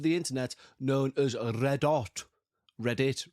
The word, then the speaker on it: Reddit: Reddit, really, if you want to pronounce it correctly.